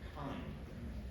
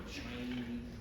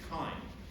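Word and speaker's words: chyme: it a bis anymore instead we call it kind and I know that everybody wants to pronounce pronounce this ch or chiny or something with that sound at the beginning but it's not it's kind and I did confirm with Aaron last night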